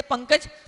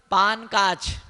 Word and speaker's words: पंकज: अंग्रेजी में लिखो PANKJ, और जिसने संस्कृत नहीं पढ़ी उसको बोलो पढ़, उच्चारण वो क्या बोलेगा, पान काच। क्या पढ़ेगा, पान काच, PAN पान, OKJ काच, पान काच।